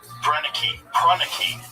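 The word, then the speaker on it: Proenneke: fished grew potatoes had to build prren that's how you say his name uh P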